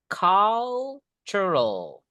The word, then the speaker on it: cultural: Ingat bacanya bukan kultur teman-teman ya. cultural kebudayaan the cultural practice